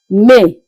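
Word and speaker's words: mai: Let's go up and see how we pronounce May. The month that we are in right now that started just yesterday. May as you can see sounds the same as it is being pronounced in English except that the spelling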